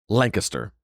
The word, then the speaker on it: Lancaster: It's spelled Lancaster, and everywhere else in the states, Lancaster, California, uh it's Lancaster, uh but in Lancaster, it's pronounced Lancaster.